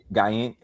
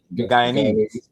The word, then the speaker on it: Guyanese: You got to tell me, how was it growing up, given his Guyaning? Oh, how you pronounce it? Guyanese.